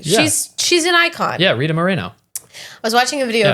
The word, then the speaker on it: Rita Moreno: little nervous that I have it wrong it's Rita Moreno right Rita Moreno yeah hold on she's an icon she deserves